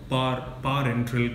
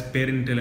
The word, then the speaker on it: parenteral: No, parenteral contact. We used to previously pronounce it as parental and parental, but our pharmacology lecturer clearly told us, because we never understood the meaning of parenteral, for example.